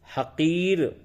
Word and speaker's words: حقیر: پہلے نمبر پہ ہے حقیر، ہے زبر ہا، قافیہ زرقی، رے ساکین، حقیر۔ حقیر کے معنی معمولی،